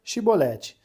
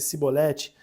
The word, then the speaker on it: chibolete: Se respondesse que não, os homens de Gileade lhe diziam: "Então diga chibolete". Se ele dissesse cibolete, não podendo pronunciar corretamente a palavra, eles o agarravam e matavam no nos valquele tempo, foram mortos 42.000 efraimitas.